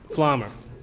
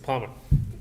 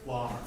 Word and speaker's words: Flommer: Palmer. Am I saying it right? Flommer. Flommer, okay. No P, silent P.